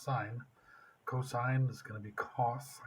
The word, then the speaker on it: sine: sign it look little look like sin but this still pronounced sine cosine is gonna be